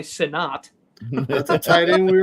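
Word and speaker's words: Sinnott: He may pronounce it Senate. I bet he does, but it's definitely Sinat.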